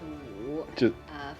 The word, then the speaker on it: 午: Like we pronounce that more like u. So say like 下午 is afternoon, so it's 午.